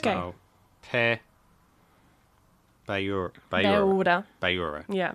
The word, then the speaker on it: beure: So, pa ba yura.